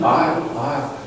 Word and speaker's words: aisle: Aisle. I can explain that this word is came from island and then you don't pronounce it.